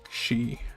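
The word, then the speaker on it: し: and you uh you catch fish with hooks and then once you get a fish you can make some sushi she good job now this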